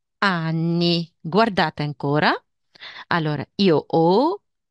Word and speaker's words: ho: Ok Allora io ho si pronuncia o però la h questo qua non si pronuncia non si pronuncia mai